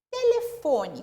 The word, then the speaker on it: telefone: Telefone. Como que eu separo em sílaba? Te-le-fo-ne. O que eu pronunciei com mais tonicidade? O fo.